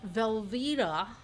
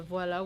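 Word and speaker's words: voilà: Velva. Wait, is that really how an American says voila? Velvita. The voila would be more like oi. Voila.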